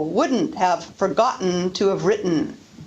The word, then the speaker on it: written: need to mention that very often the T before syllabic N is pronounced as a glottal stop. Listen to the difference between bidden, bitten, ridden, written, sadden, satin, sudden, sutton, burden, burton, Eden, eaten. The second example is pronounced with a glottal stop.